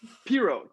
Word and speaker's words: Piro: You can really call me anything, but it's Piro. Piro.